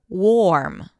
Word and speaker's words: warm: Now again, if you were to pronounce the O as an O, O O, warm. Warm. And that's a different word w a r mm that you might use to describe the weather.